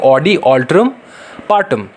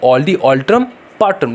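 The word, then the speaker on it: audi alteram partem: अभी देखेंगे हम लोग ऑडी अल्टरम पर्टरम, बोलो, या फिर ऐसे अगर नॉर्मल भाषा में बोलना चाहते हो तो ऐसे बोल सकते हो, ऑडी अल्टरम पार्टम। ठीक है, ऑडी अल्टरम पार्टम।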